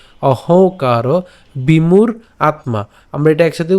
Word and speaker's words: অহংকার: প্রকৃতে, প্রকৃতে ক্রিয়মানানি, ক্রিয়মানানি গুণৈ কর্মাণি সর্বশঃ অহংকার, অহংকার, এই যে উঁ রয়েছে আমরা নাকে উচ্চারণ করবো, অহংকার বিমূঢ় আত্মা, আমরা এটা একসাথে উচ্চারণ করতে পারি, বিমূঢ় আত্মা, বিমূঢ় আত্মা, ঠিক আছে।